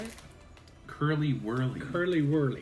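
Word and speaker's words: Curly Wurly: Curry Whirly. How do you say it? Curly Whirly.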